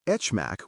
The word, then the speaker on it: HMAC: Say RSA for RSA, AES S and etchmac with a soft etch for HMAC.